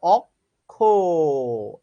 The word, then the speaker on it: অক্ষ: অক্ষ শব্দের সঠিক উচ্চারণ হচ্ছে অক্ষ।